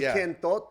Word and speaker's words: Kentot: People don't know how to say it really. It's really Kentot, but like when I'm sending liners to anybody, nobody's going to get that unless they have that like Filipino accent.